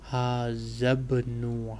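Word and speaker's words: هذا ابن: So you note these two alif become silent because alif or Hamzatul Wasal is pronounced only when it is at the beginning of the sentence. It is not in the beginning of sentence here, so it is silent.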